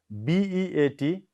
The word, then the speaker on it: beat: Okay, B-E-A-T, beat, not bit. B-E-A-T, beat.